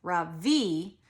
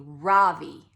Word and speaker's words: Ravi: It is pronounced Ravi with a soft Ra and a strong V. In Sanskrit, it means the sun. In America, people call me Ravi with the stress on the first syllable.